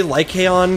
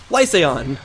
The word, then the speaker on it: Lycaon: And I was re-watching some episodes, and I realized that even after I learned how to say Lycaon correctly, or Lycan correctly, I'll just say it like the fast, lazy way, I continued, like, whenever